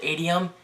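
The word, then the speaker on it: Adium: however if you can download an application called adum it's spelled a d IU M go to Google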